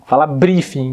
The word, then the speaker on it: briefing: Muita gente fala briefing, né? Assim, bem aportuguesado mesmo, né? A pronúncia certa é briefing. A nossa língua tem que dar uma voltinha na boca lá pra trás pra fazer esse, né? Briefing.